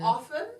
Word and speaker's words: often: Often or often? Often. Often. I say often. Often. I say often, but apparently. Not them doing a like reverse on us cuz we usually use shortcuts and take out letters in words. Often. Often. Often. Often. Says who? Often. It depends on the British and American.